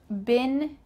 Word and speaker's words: been: You could change that verb, but we're just going to stick with I've been here for 2 weeks. Let's break this down. I've been. This sounds like a short I. B-I-N. Been.